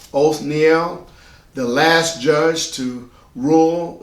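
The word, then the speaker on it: Othniel: right after the death of Joshua his name is spelled o t h n i e l o Neel the last judge to rule is going to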